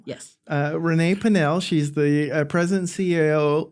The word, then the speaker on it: Pinel: Uh with us today is Renee Patel. Did I pronounce that right? Panell? Yes. Uh Renee Panell, she's the uh president CEO CEO of Western Plant Health.